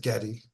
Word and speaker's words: Geddy: Uh but his mother pronounced it Getty.